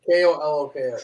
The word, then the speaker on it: Koloko: How do you pronounce it? Koloko. Coloco.